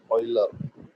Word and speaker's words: Euler: Yes, that is the pronunciation for this, Euler.